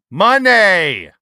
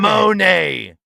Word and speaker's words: Moné: Money. It's not Monet. That like bothers the shit out of you.